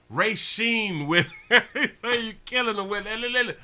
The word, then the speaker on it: Racine: his life they've been arresting him say it's pronounced racine with everything you're killing them i just be playing sometimes sometimes i don't go in for the other life in racine courtney wisn 12 news i like it i